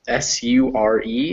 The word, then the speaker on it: sure: it and remember that the words s-u-r-e is pronounced sure yes yeah sure can